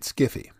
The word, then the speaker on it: sci-fi: shorthand for science fiction like Wi-Fi sci-fi is a variation on hi-fi and is pronounced as such in the 1970s some